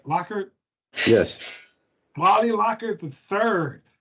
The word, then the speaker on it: Lockard: Lockhart?